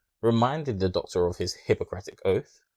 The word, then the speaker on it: Hippocratic: the doctor of his hippocratic oath i think that's how you say it sounds like hypocrite but reminding the doctor of his hippocratic oath to tell him